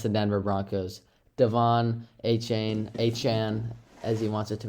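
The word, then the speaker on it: Achane: to 20 against the Denver Broncos Devon aan Anan as he wants it to be pronounced had I think he had four touchdowns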